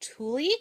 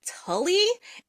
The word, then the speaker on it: Tooley: her signing line, and they kept pronouncing it Tully. And I walked up to her and I'm like, have they been mispronouncing it all day? She's like, yeah. I'm like, I don't understand. Is nobody Yeah. gonna correct? I was like, I look at that and I don't even think Tully.